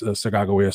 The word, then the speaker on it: Sacagawea: books and using uh sacagawea what is the normal american vernacular of of pronouncing her name um but yeah her name is sagawaya so that's our basically